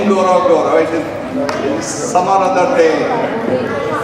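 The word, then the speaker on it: Ngorongoro: Even I cannot pronounce it properly. Ngorogoro. It's Ngorogoro.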